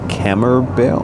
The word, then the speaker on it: Camembert: your food and the camembert, how you say it? Camembert. What? It's B-E-R-T. It's French.